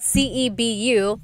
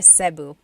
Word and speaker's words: Cebu: So, technically in the Tagalog alphabet the letter E can be pronounced E or E like the letter I. So, I say Cebu. Cebu. And I know some people say su, but usually it's either Cebu or Sebu.